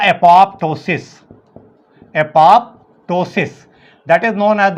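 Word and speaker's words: apoptosis: Is known as द एपोप्टोसिस, एपोप्टोसिस, that is known as the Rejish, हम लोग कहते हैं इसको रेजिश, रेजिश। तो या तो एपोप्टोसिस होती है, some people pronounce is एपोटोसिस, पी इज the silent.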